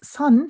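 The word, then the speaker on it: Seon: as Zen so that's the Japanese way of pronouncing mindfulness Chinese ways Chen Korean ways Sun so it's the same word but Koreans Chinese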